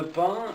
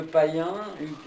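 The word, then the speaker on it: Payns: Alors Pin, ça s'écrit P-A-Y-N-S, hein, mais ça se Alors prononce c'est bien. Hugues de Pin, Hugues de Payen, Voilà.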